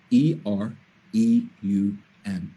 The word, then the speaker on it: Ethereum: gonna spell that for you e t h e-t-h-e-r-e-u-m it's pronounced ethereum if you only buy one crypto